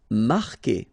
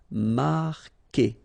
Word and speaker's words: marquer: Marquer, okay, Q-U together, it's only the sound K, K. Marquer, don't pronounce the U.